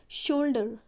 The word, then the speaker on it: shoulder: शोल्डर, इट्स नॉट सोल्जर, देखो शोल्डर का एक होमोफोन भी होता है वर्ड, दैट्स कॉल्ड सोल्जर।